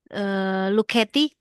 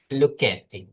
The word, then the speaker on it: Lucchetti: Oke, di sini coba pengucapannya bagaimana? Lucetti. Luketti, ya.